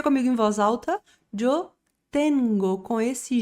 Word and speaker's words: tengo: Jengo. Pronuncia comigo em voz alta. Jengo.